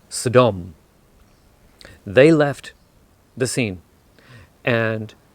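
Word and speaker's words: סדום: towards the city of Sodom which in Hebrew is pronounced Saddam they left the scene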